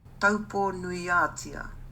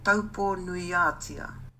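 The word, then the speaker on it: Taupō-nui-a-Tia: 그거를 마오리어로 어떻게 발음하는지. Taupo Nuiatia. Taupo Nuiatia.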